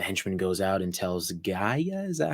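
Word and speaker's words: G'iah: and then the henchman goes out and tells Gaia is that how you say her name yeah Gaia to go on this mission to go get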